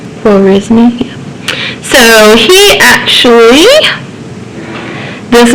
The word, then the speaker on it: Khwarizmi: How do you pronounce his own name? Khwarizmi, yeah.